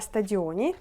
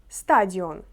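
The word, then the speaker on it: stadion: ми в футбол на стадіоні польською мовою стадіон наголос на а стадіон далі футбольне поле боїско наголос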